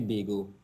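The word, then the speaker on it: Baego: The name of it is actually Bago. So it's spelled B-A-E-G-O, as in Bay, the urban term, and go to kind of make the short term Tobago.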